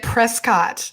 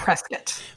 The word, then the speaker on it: Prescott: People say it Prescott, but it's Prescott.